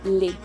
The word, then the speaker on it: les: Recordemos que la S es muda al final y recordemos la regla de pronunciación ES va a sonar como E. Entonces se dice le.